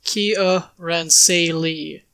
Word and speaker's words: Kiaransalee: realms names pronunciation entitles the official pronunciation here in say Lee is Kia ran say Lee though when you say